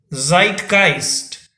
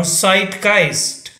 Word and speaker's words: Zeitgeist: it is spelled as z-e-i-t g-e-i-s and the pronunciation of the word is zeitgeist or zeitgeist zeitgeist or zeitgeist meaning of the word is